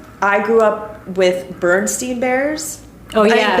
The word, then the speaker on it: Berenstain: I mean, Berenstein Bears. I have Bernstein. See? I grew up with Bernstein. I grew up with Berenstein. But I think it's spelled Berenstain, right? It's like an A-I-N.